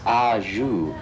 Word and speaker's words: au jus: Hey, what does au jus mean? That's au jus, pronounced correctly.